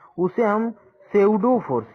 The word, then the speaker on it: pseudo: तो जो ये सेंट्रीफ्यूगल फोर्स है उसे हम सेउडो फोर्स, यहाँ पे P साइलेंट है लेकिन इसे लिखेंगे PSEUDO, लेकिन पढ़ेंगे सेउडो फोर्स।